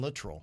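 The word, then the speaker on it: Littrell: Literal. Literal. Literal. I think it's Brian Litrol. Not And I I always said Latrell. I think it's Brian Litrol.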